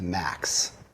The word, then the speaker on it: MAKTS: It's basically pronounced, the acronym is pronounced MAKS.